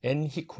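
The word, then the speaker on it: Henrique: 한 분이 나타나죠 누구냐 엔히크 왕자 영어로 발음하면 엔리코 왕자라고 그럽니다 엔히크 왕자가 항의 전문가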